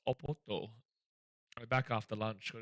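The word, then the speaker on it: Oporto: a Portuguese fast food restaurant apparently from the city of Porto but it's pronounced oppoto.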